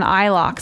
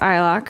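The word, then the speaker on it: iLok: plugins are actually protected from theft by an eye lock system and it's spelled lower case I and then capital L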